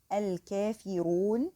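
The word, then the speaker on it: الكافرون: So we say al-kafiru because here the ra carries dhamma, so it's pronounced heavily.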